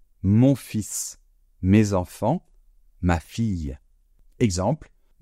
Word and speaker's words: fils: Le deuxième mot était le mot "fils", un fils. Donc, attention à la prononciation, on ne prononce pas le L. Le fils, c'est l'enfant masculin.